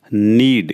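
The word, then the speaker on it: knead: Next word हमारा रहेगा नीड। इसमें के साइलेंट है, इसमें पढ़ेंगे हम NEAD। के साइलेंट तो रहेगा ये नीड। यस, ध्यान रखना इसका केस में साइलेंट है। नीड पढ़ेंगे।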